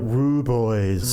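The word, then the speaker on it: rooibos: It's spelled like Rue Boys. Rui that Boys.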